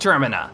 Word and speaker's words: Termina: It's pronounced Termina. No, you're pronounced Termina.